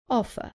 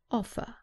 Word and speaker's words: offer: examples of vowel sounds offer remember that in British English the r at the end is not pronounced so the last sound is an U offer offered another example with